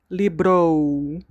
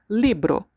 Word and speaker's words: libro: Never say libro. The O is O. Remember the alphabet? O. Libro. Libro.